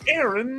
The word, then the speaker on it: Erin: It's pronounced Terran, but without the ta. It's Erin.